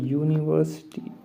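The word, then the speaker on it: university: यूनिवर्सिटी यूनिवर्सिटी में यू आ रहा है तो यहां पे अ का ए का प्रयोग हो जाएगा।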